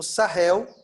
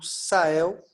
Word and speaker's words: Sahel: estão florestando numa região conhecida como Sahel, ou Sahel, dependendo da sua pronúncia aí, S-A-H-E-L, Sahel.